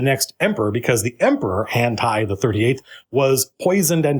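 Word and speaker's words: Hantei: emperor, because the emperor, Hantai the 38th, was poisoned and dying. Poisoned. Hante, technically. It's the EI versus IA, or AI.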